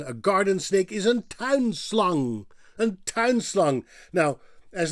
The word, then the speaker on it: slang: So slang would be pronounced in Dutch as slung.